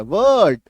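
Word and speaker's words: word: तो कुल मिला के बात यह है कि अगर आर के बाद कोई कॉन्सोनेंट साउंड हो तो आपको वहां पे र का उच्चारण नहीं करना है और पूरा उच्चारण क्या होगा, वर्ड होगा। मतलब ये वाला जो उच्चारण हम लोग करते हैं ये गलत करते हैं, ये इसका सही उच्चारण है।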